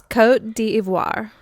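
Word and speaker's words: Côte d'Ivoire: you say that again coat duh what it's Cote d Ivoire oh you wrote it phonetically the line above what I was looking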